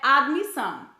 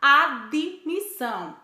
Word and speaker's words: admissão: exemplo a palavra admissão o correto é admissão mas costumamos falar admissão com o som vocálico bee entre o d e o m está errado outro átomo tu nós